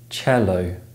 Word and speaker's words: cello: T CH and T it can also be spelled with the letter C in Italian lone words such as cello remember that these letters